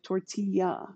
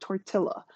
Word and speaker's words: tortilla: way that it's pronounced we recognize also the difference between a single L and the Double L like tortilla right it's not torqued illa so in German it's